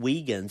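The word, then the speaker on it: Uyghurs: And by the way, even though it's called Wagans, it's spelled different. It's spelled more like Well, it's spelled exactly like U Y G H U R.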